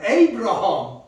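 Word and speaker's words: Abraham: 에이브라함. 이름이 에이브라함. 아브라함의 아브라함. 아브라함을 영어 발음은 에이브라함.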